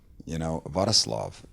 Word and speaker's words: Wrocław: Wrocław is that how you say it? Yeah, Wrocław.